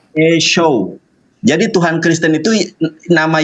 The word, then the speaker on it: Yeshua: Ini bacanya Yeshua.